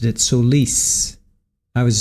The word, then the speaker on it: Solis: right and Oscar Solis that's the way they pronounced it sois I was saying soless OCT Oscar Solis all right so here's a